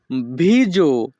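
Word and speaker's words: viso: বাংলা অর্থ গলা মুখ ভিজো ইতালিয়ান ভাষাতে মুখকে বলা হয় ভিজো এখানে এস ও এর উচ্চারণ হবে জো ইতালিয়ান ভাষা ভিজো বাংলা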